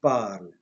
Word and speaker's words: parle: Je parle. But keep in mind that I am not pronouncing the ending e, but I have to write.